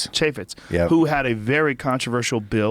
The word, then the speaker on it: Chaffetz: Chaffetz, who had a very controversial bill that he had out that was pulled back.